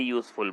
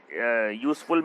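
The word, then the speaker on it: useful: 49 में आएगा ए, क्योंकि इट इज़ a very यूजफुल book, यह एक बहुत फ़ायदेमंद किताब है। यू साइलेंट होता है, ए आएगा। सॉरी, यू में यूज़फुल में यू की साउंड आ रही है, यूज़फुल में यू की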